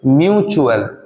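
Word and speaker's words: mutual: আর ই সেই জন্য এখানে এই টি এর উচ্চারণ হয়েছে কি চই রকম ভাবে মিউচুয়াল এখানেও দেখো ইউ এর পরে এল আছে সেই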